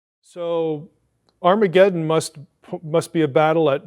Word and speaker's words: Har Magedon: We have Armageddon, but actually we're mispronouncing it. It's Armageddon.